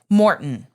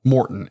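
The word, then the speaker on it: Maurten: at their they have drink mixes morton right morton m-a-u-r-t-e yeah even though i'm saying it probably wrong no that's how she pronounces it right okay there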